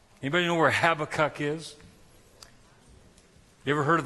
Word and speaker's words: Habakkuk: You know, I'm gonna call him Habakkuk, all right? Habakkuk. Anybody know where Habakkuk is?